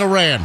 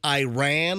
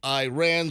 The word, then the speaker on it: Iran: guy for mispronouncing Iran and saying Iran like I Ran So Far Away can you say it either way uh well I guess they like to hear Iran and not Iran and